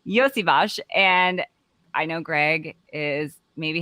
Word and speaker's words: Iosivas: We're going to talk about Iosivas. That's how you pronounce his name for anybody who's wondering. All of the Bengals. That's how you pronounce his name. Iosivas, and I know Greg